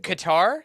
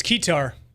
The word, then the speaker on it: Ketar: Is it Qatar? It's Ketar. It is Ketar. Okay. It's Ketar. Ketar, like the instrument.